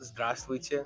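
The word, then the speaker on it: здравствуйте: Yeah, formally would be like zdravstvuyte.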